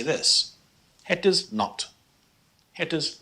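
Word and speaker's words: nat: Het is not. Het is not. Pronounced almost like the not in English.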